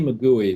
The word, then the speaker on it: McGoey: Well, there's an excellent book by a woman called Lindsay McGooey, which is spelled Mcgoey, who's an academic in the UK, called No Such Thing as a Perfect Gift.